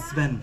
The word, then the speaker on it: Sven: Sven. Sven. Sven. It's Like seven without the E.